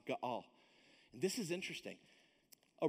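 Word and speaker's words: גֹּאֵל: All right, spelled G-O-E-L, but it's pronounced Ga'al.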